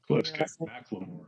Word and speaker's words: McLemore: Connor mle that's how you say it right maore yeah maore sorry sorry um introduce yourself your role at